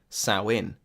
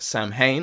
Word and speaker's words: Samhain: a seasonal harvest festival sow in sow in which is spelled s a.m. Haan and which I believed was pronounced Samhain until I was informed otherwise was a feast practiced